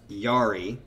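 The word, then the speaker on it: Jari: Having only done three in almost 20 years of existence, main composer and singer, Yari, don't pronounce the J, just like human, has gone through extended periods of writer's block.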